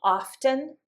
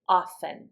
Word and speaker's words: often: It is perfectly acceptable in English to say often. It is also acceptable to say often. We do this with a lot of words when we have a consonant before a T. We just don't say the T. Um some other words that I can think of that do this are listen, hasten. Those are some words we don't say the T, it becomes silent.